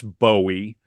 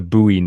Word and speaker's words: Bowie: Paul pretty cool yep um so in 1966 Bowie adopted his stage name to avoid confusion with Davey Jones and the monkeys the name Bowie was inspired and it's Bowie that's how he said it was inspired by